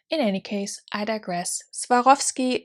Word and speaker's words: Swarovski: any case i digress swarovski is how we would say it in german and in also austrian german and swiss german so swarovski obviously is